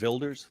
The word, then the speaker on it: Wilders: I think the W for them is a V, like in German, isn't it? Wilders.